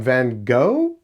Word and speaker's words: Vangoa: I say Van Goa. Uh there's people that are like, "Oh, yeah, no, it's Van Goa because that's how it's spelled."